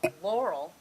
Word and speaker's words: Laurel: Laurel rhymes with snorrel.